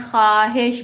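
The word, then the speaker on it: خواہش: ख्वाहिश इसमें हम वाऊ की आवाज नहीं निकालते। हम क्या कहते हैं? ख्वाहिश बोलते हैं इसको। जबकि लिखा हुआ वाऊ है।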